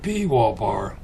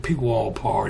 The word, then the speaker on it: Pwalpar: So I just stuck a P in front of it and called it P wallpar. And some people can't pronounce P W A R, but that's how you say it. Old P wallpar.